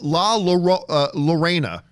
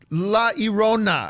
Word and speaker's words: La Llorona: I kept calling it Lorena. Right. And then everybody's like, John, it's La Llorona.